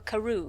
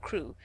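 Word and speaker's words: Crewe: difference in the name madame pascal pronounced it as if it were karoo instead of crew but that might be merely a matter of pronunciation the circumstances were curiously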